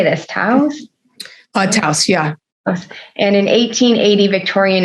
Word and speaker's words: Taos: Taos, yeah.